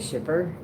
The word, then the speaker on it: Skippo: I pronounce it Shipper, but it's just an enunciation thing between the two of us.